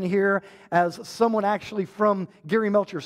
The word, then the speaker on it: Geri: Like pronounced Geri right here, like SpongeBob.